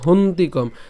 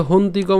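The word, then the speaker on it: হন্তি কম্: না ঘাততি এরপর হচ্ছে হন্তিকম তো এই যে হন্তিকম উচ্চারণ কিভাবে করব হন পর্যন্ত যদি উচ্চারণ করি হন এরপরে কি তি তাহলে হন্তি কম হন্তি কম ঠিক আছে তো আশা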